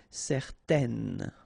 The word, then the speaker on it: certaine: Okay, if you add this at the end, then it will change the thing, and then you will pronounce it N. Okay, so the masculine form, certain, the feminine form, certaine.